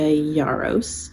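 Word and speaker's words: Yarros: fourth Wing by Rebecca yaros yaros I believe is how you say her name all of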